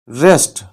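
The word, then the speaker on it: wrist: कलाई इंग्लिश होगी रेस्ट रेस्ट यहां पर हम डब्लू को प्रोनाउंस नहीं करेंगे रेस्ट यानी कलाई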